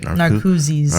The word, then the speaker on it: Narcoossee's: I heard more about Narcoossee's. Is that how you say it? Narcoossee's, yes.